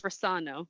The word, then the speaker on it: Rossano: And in the audiobook, it's Rossano with the emphasis on the second syllable.